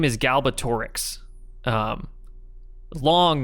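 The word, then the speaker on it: Galbatorix: so i i think i always pronounce or read it as like galbatrix you know the wrong thing so now it's like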